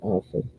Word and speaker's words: often: I thought about that the other day, but when we were brought up, we were taught that the T is silent. So that's why I say often.